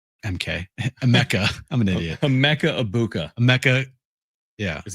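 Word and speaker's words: Emeka Egbuka: Emeka Ibuka. Emeka. Yeah. Is how it's pronounced.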